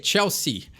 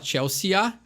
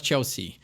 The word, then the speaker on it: Chelsea: Então a gente não fala o E e o A. Isso é muito comum em vários nomes ingleses, britânicos, de não se pronunciar todas as letras da palavra. Então tu não fala Chelsea, tu fala Chelsea. Então simplesmente dá essa cortadinha na palavra e esse é o jeito correto de pronunciar.